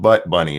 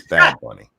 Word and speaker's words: Bad Bunny: Butt Bunny or something, it's not Butt Bunny, it's Bad Bunny.